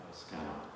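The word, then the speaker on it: Skänoñh: the repurposing of the Scano Great Law Peace Center. That's how it's pronounced, Scano.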